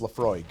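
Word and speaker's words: Laphroaig: quart ounce of Lefroy I as an American pronounce that as Lefroy I have been told that it's probably closer to lefrog lefrog any um heavily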